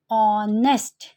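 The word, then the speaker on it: honest: हमारा एन यूज़ होगा, because ऑनेस्ट के केस में एच क्या था? साइलेंट था। और हम इसको कैसे प्रोनाउंस करते हैं? ऑनेस्ट। ठीक है, ऑनेस्ट से होता है, एंड एच is your silent.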